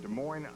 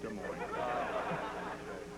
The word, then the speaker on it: Des Moines: Our booking department tracked him down in Des Moines, Iowa. The S is silent.